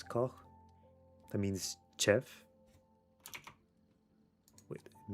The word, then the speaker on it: Koch: But I'm guessing if it's more of a German pronunciation, it's Koch.